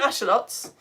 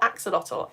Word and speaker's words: axolotl: I have done Ashalots, which is why I'm pronouncing it Ashalot, because that's actually how I pronounce it. It's not Axolotl. Ashalot comes from the Nahuatl language, which is the same language that gave us the word chocolate.